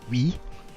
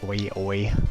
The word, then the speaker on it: oui: in Animal Crossing for GameCube, and his catchphrase was "oui," but I didn't know that. It's spelled weird, O-U-I, so I thought that he was just saying "oi oi" all the time.